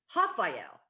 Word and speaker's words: Rafael: But his name is Rafael, but no one can say because Portuguese is a little weird. R's sound like H's, so it looks like Raphael on paper, but it's pronounced Rafael.